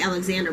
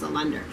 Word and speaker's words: Allender: I wanted to say Alexander, but I think it's pronounced Allender.